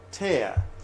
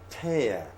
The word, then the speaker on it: tear: two different pronunciation okay if you want to use it as a verb like I'm using it over here you pronounce it tear to make it a tear if you want to